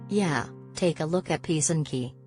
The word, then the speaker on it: Pysanky: Yeah, take a look at Pysanky, pronounced pih-sahn-KIH, the intricately decorated Ukrainian Easter eggs.